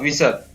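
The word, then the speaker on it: whistle: इसी प्रकार WHI, यहाँ पर वी, एच भी साइलेंट रहता है इसमें, वी स ल, विसत।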